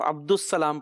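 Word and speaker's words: عبد السلام: अब्दुल सलाम पढ़ेंगे हां दाल और अलिफ लाम जो है ना हा जो है वो साइलेंट हो जाएगा खामोश हो जाएगा सही अब्दुल सलाम अब जब सीन को साथ मिलाए तो उसपे शद आ जाएगी बोलने में अब अब्दुल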